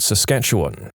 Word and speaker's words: Saskatchewan: I'm originally from a place called Saskatchewan. It's not really hard to pronounce, it's just like it's spelled, but if you haven't heard it a lot, it can be intimidating to try and read out loud.